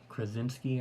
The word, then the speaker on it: Krasinski: Fantastic making his appearance, and it is John Krasinski, I believe is how it's pronounced.